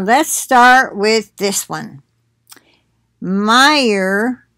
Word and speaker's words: Meijer: start with this one meijer i think is how you say that it's m-e-i-j-e-r major but probably meyer anyway recalls candle cantaloupe